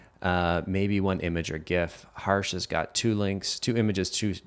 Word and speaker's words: gif: email and technically a gif is an image and i hope you pronounce it gif and not jif if you pronounce it jeff we're not friends lee what's up lee